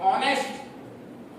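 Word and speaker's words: honest: अब देखिए एच जो एन एस टी है इसको हम इसका प्रोनशन करते हैं ऑनेस्ट ऑनेस्ट नहीं बोलते क्या बोलते हैंस्ट बोलते हैं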